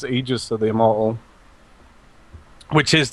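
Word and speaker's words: Aegis: say Aus to the immortal she now says egis of the immortal which is the correct way to pronounce it is it egis I've always said it wrong it's egis but um a lot of people don't pronounce it like that people don't like it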